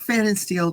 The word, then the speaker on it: Fannensteel: I learned how to pronounce it. Kurt Fannon Steel, the guy who can remember absolutely nothing.